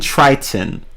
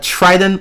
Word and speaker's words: Triton: I I meant I'm I'm saying Triton or Trident like tridon like I'm not pronouncing the the second t i gu though I